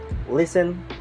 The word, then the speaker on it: listen: Island debris and Isle letter of T it's kind of a little bit tricky about it and select this example Christmas listen and Castle Christmas listen and Castle